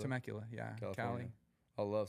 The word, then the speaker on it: Temecula: Temecula? Temecula, yeah.